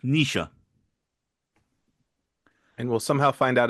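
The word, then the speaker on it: Naoise: i s e and I'm reliably informed it's pronounced Nisha and we'll somehow find out it's called Nick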